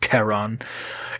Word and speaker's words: Charon: or charon spelled k-h-a-r-o-n i'm assuming it would be pronounced keron is the ferryman of